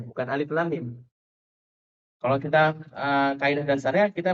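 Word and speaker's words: الم: Jadi dia karena belum tahsin, bacanya tuh bukan alif lam mim. Gimana bacanya? Alamma. Alamma dibacanya, bukan alif lam mim.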